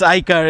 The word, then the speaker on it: iCaur: It's not CAR, but oh yes, it's pronounced that car. It's iCaur itself.